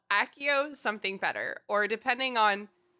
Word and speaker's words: Accio: I've been told by my friend who has studied Latin that Accio is actually like the Accio. most Latinate pronunciation.